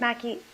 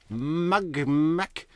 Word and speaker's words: Mack: Mack? What is her problem? Could you have an easier name to say than Mack? It's one syllable.